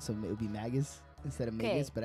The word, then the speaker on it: Magus: I say Magus. What do now? I say Magus, like a magazine. I think it's Magus because he's a mage, right? So it would be Magus instead of Magus, but I.